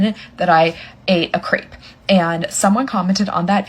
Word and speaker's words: crepe: that I ate a crepe, and someone commented on that video, "It's my disability, I have to tell you that you pronounced crepe wrong," wanting me to pronounce it crep.